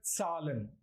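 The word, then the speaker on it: Zahlen: topic numbers okay it's in German it's called Salin z a h l e n numbers okay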